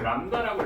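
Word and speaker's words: λ: 파의 길이라고 해서 파장 해서 이걸 우리 람다라고 읽어줍니다.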